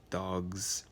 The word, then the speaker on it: dogs: to the g that's coming before so like dogs now if you said dogs and got the